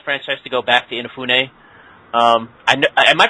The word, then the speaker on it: Inafune: the Mega Man franchise to go back to inafune um I am I pronouncing that right by the way yeah yeah Ena yeah inafune yeah I was worried there but I'd love